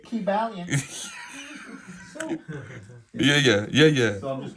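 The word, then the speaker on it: Kybalion: There's a book called The Ki Ba Lion. But they don't pronounce it that way. Yeah. They say Ki Balian.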